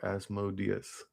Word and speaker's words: Asmodeus: Guess that both pronunciations work well, but I prefer Asmodeus. Deus as the final stressed syllables.